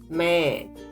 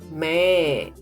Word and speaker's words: मैं: You already know that I in Hindi is main. Here, underlined N is giving nasal sound to the word and not to be pronounced. Speak with me, main, and observe the sound is going through your nose.